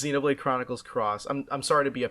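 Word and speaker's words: Xenoblade Chronicles X: X yeah no it's it's definitely the letter X but it's pronounced Xenoblade Chronicles cross oh my God next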